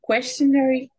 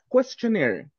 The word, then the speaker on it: questionnaire: who will decide the questionary thank you questionnaire questionnaire questionnaire exactly the final part uh in spelling is in one form but pronunciation near questionnaire questionnaire thank you people what's